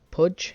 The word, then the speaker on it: Puig: Now, I think is how you pronounce it. It's Pudge. It's spelled Puig.